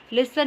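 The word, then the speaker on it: listen: में के साइलेंट है, लिसन में टी साइलेंट है, शुड में एल साइलेंट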